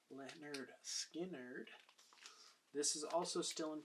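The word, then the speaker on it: Lynyrd Skynyrd: it has my favorite songs and that is pronounced Leonard Skynyrd this is also still in print this is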